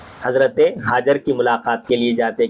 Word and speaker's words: حاجر: عربی میں حاجر ہے، حاجر صحیح لفظ یہ حاجر ہے، لیکن حاجرہ جو کہا جاتا ہے عرف عام میں وہ لفظ حاجر جا کے حاجرہ ہو گیا، تو اسی طرح حاجرہ کہتے ہیں، لیکن صحیح تلفظ اس کا پروننسیشن جو ہے عربی زبان میں حاجر ہے.